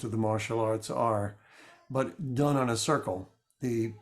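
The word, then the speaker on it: p'i: a b that's uh P apostrophe I pronounced B with with a B sound and you would it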